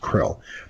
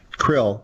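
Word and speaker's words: Kirill: orthodox patriarch of moscow carol krill well it's pronounced krill krill the entire he's basically the Pope of the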